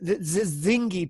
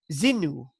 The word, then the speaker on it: Zinu: But the strange thing is when she said that I was calling the Zingi people, she said that they were the Shingi people, and I've found that they were the Zinu. They were actually called the Zinu.